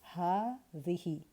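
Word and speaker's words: هذه: Remember that it is pronounced with a long vowel alif after the ha, hadhihi. But in writing, you don't see it.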